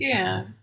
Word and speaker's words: Ayin: i n and the i n is actually a guttural letter believe it or not pronounce using the throat but today most people pronounce it just like the olive meaning that it's silent and it takes on the sound of the vowel that it's attached to so i explain it